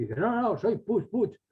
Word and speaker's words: Puig: Se escribe Puig, pero se pronuncia Puig, como una serie de apellidos catalano-valencianos. Puig, Ros, Blanc.